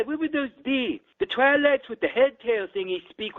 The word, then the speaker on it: Twi'lek: I think it's pronounced Twi'lek, by the way. Okay, Twi'lek then.